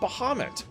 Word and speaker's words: Bahamut: it's based off of Dungeons and Dragons but Bahamut which is pronounced baham is in ff1 as well he's